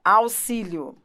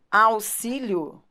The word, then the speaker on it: auxílio: quando você fala ó auxílio são coisas sobre as quais talvez você nem tenha pensado mas isso cai em prova ó auxílio auxílio ele tem som de dois s né aux máximo você